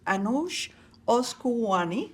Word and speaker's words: Anoosheh Oskouian: I have the privilege today of having my co-host, Andrea Sai, and a very, very special guest, Anoosheh Oskouian. Did I pronounce it correctly?